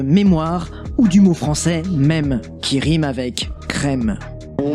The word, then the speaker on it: mème: En français, ça se prononce même. Vous pouvez dire mime, tout ce que vous voulez, comme vous voulez, y a pas de souci vraiment.